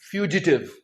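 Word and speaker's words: fugitive: इसे हम प्रोनाउंस करेंगे फ्यूजिटिव फ्यूजिटिव फ्यूजिटिव police नैप्ड फ्यूजिटिव police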